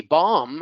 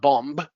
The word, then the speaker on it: bomb: Bomb is not bomb. It's bomb. Climb, climb, climb.